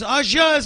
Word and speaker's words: au jus: It was like I kept trying to kind of feed her the correct pronunciation. You know, in between, I was like au jus. It's au jus, au jus.